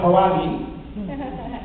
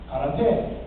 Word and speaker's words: karate: Daniel called it karate, but he eventually learned from Mr. Miyagi, it's pronounced karate.